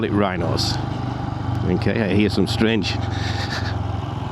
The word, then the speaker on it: Wrynose: So that was the top of Wrynose, and we call it Wrynose. Okay, I hear some strange pronunciations of this pass.